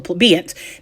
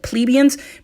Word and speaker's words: plebeian: lower class, called the plebeians. Now, a lot of people pronounce it plebeians, but the dictionary says plebeian, so we'll use that.